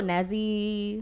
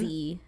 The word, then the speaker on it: Neeziie: People go Neeziie. Neeziie. Neeziie, But it's E-E. Neeziie. Like, you know, I Reading's need. fundamental, but still. Still. It doesn't matter. Well, I get Teryn. Neeziie Baby.